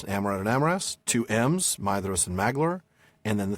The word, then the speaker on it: Maedhros: Maedhros the tall and that is Maedhros, not Maedhros as what's his name pronounces it.